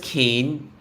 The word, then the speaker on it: Cairns: Like, if it's just Cane, why can't you just call it C-A-N-E? And it's like Cairns.